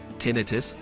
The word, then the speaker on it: tinnitus: Tinnitus, pronounced tinnitus, is the feeling of hearing a ringing, buzzing, hissing, chirping, whistling, or other sounds in one's ears.